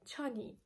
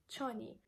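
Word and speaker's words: چۆنی: most of the times kurdish people don't pronounce the last t sound here so they just drop the t sound and they simply just say chani chani then the way you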